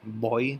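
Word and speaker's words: voy: present tense of e which is boy right pronounced with that kind of B sound not V but boy right I go you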